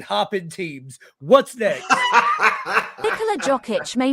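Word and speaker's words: Jokić: Majesty uh because uh that was the best pronunciation of jock itch I've ever heard so listen listen no no no no no no no no no no no no Nicola jokic you're not doing it you're not starting on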